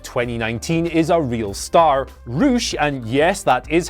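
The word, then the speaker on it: Rush: Roosh, and yes, that is how you pronounce it, is an incredible heel, one hell of a brawler, and honestly, world champion material.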